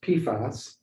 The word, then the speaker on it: PFAS: So PFAS, pronounced PFAS, is a class of chemicals known as per and polyfluorinated alkyl substances.